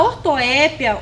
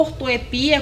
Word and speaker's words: ortoépia: em uma dentada tá a ortoépia ou ortoepia como você quiser você pode apostar entre as duas problemas elas dizem respeito